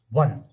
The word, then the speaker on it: one: अगर हम प्रोनाउंस करेंगे वन की, वो आएगा WON, वन। तो ओ आता है किसी W से, ये W कॉन्सोनेंट है या वावेल? ये से है कॉन्सोनेंट। क्या है?